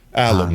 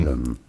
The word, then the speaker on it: alum: Alum. Alum. But it's straightforward. Once you know, you want to stress on that first alum syllable.